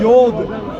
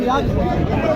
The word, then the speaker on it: Yod: It's not Yod, it is Yod. Yod. You're saying Yad.